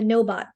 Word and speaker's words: Gnowbot: And then the second one is something called a Gnowbot. So the Gnowbot, of course, is going to be spelled with a G, just to make it really hard to spell.